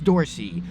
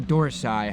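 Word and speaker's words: dorsi: The lats, the latisimus dorsy or dorsai, however you would like to pronounce it, tomato tomato.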